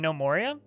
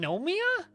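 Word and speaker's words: Gnomoria: but was this game no Moria well also if you're interested in playing nomoria don't play nomoria play in nomia I know you spell it GN okay yeah play if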